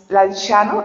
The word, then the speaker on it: Lanciano: Lanchano, lanciano se escribe lanciano se pronuncia lanchano.